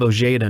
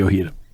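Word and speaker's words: Ojeda: red sox rookie bob o'gata no hits the yankees oh excuse me it's okay it's spelled oj eda right yes bobby ohio and i apologize for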